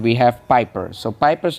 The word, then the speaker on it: Piper: So Piper's name also, like I said, rhymes with sniper.